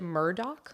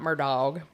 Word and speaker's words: Murdaugh: to be talking about those who have seen the Murdoch name spell it looks like murdog but everyone pronounces it Murdoch unless they're saying murdog but I'm but like I don't like that so I'm going to go with Mur he's not murdog we're going being Mur